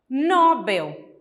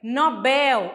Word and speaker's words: Nobel: a próxima palavra pessoal é Nobel que é uma palavra oxítona em que a última sílaba é a mais forte e geralmente nós pronunciamos como se ela fosse uma paroxítona como que a gente fala Nobel mas o correto é Nobel a última sílaba mais só olha só nada